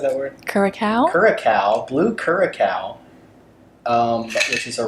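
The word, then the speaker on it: Curaçao: Curacao, blue curacao, which is a relevant color.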